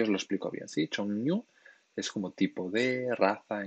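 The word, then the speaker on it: 종류: Atención a la pronunciación. Chongnyu. No es Chongryu. Cuando Nyun y Eryul se juntan así, se hace como una ñ.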